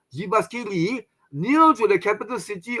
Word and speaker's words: Jyväskylä: JY is not, Malaysia is called G, no. JY becomes Y. So it's in Finnish, so Jyväskylä, in the sky.